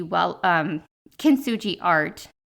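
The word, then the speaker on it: Kintsugi: bit of a backstory with k well um kin suji art not kinji Wellness that I think that's actually a book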